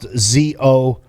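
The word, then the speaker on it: Zócalo: So it's spelled Zocalo, but it's pronounced Zocalo.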